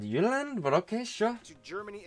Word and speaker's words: Jylland: I'm going to pronounce the location names in their proper Danish context. Oh. So Denmark is made of the Jylland. Yeah, Jylland, yeah.